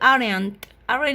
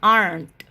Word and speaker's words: aren't: not it's equal they aren't you don't say aryan rn is not good pronunciation is aren't okay so what about